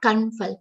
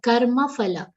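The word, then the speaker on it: कर्मफल: Little, complete sounds are becoming half, like kanfal. It's not kanfal, karma phala.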